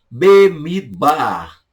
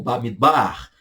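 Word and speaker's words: במדבר: Números, português, e no hebraico, Bemidbar, tá? Ou Bamidbar. Bamidbar, Bemidbar, na ideia de no ermo, no deserto, Bamidbar, números, português, do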